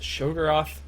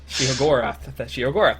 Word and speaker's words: Sheogorath: was when they announced Shogorath, which I just mispronounced horribly, taking over the arena. Sheogorath, there it is.